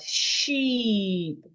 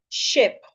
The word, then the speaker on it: sheep: The first one, the one with the length mark has the word sheep. S H E E P. Sheep. The other one without the length mark has a short vowel and it is pronounced ship ship. So you have sheep and you have ship instead of sheep. Sheep wrong. So let's consider more words under this.